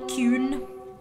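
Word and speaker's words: Qyune: another another wow creator it's q y u n e kun at least i'm pretty sure that's how he pronounces it um and he was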